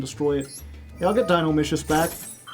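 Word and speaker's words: Dinomischus: Yeah, I'll get Dynino Micious back. Dino Micious rhymes with delicious.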